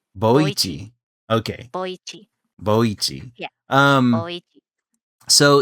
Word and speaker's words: Boichi: Boichi, Boichi, Boichi. Okay. Boichi.